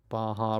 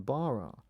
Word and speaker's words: Barra: And quite often people ask me what does the word Baja mean and why do you pronounce it with Baja rather than barra.